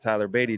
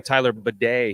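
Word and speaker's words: Tyler Badie: need to call him Tyler bedet on the show today I'm pretty sure that's not how it's pronounced but they did make it a little French out there yeah what was that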